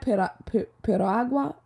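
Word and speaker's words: piragua: agua is a did I say it right pero agua is a Puerto Rican snow cone they have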